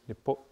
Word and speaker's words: nipimotanan: So instead of nipimotan, just to go back on our other one, it's going to be nipimotanan.